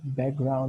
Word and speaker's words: background: Background, a gente nem pronuncia o K, né?